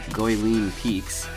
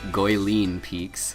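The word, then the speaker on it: Guilin Peaks: uh right away you should notice that unlike goeleen peaks yes and apparently i was corrected i'm saying that wrong i was correcting in the comments of my last video it is in fact pronounced goyleen peaks so thank you to that person uh but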